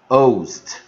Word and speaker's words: Holst: 则我们就打个星号，Host Gusta O Host Gusta Host Gusta Host。